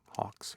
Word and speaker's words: Hawks: Hawks, yeah. Rhymes with cocks.